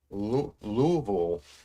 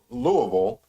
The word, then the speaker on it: Louisville: So it should be Louisville, I believe. But because we have trouble actually using our mouths and tongues and stuff, it just comes out lazily like Louisville.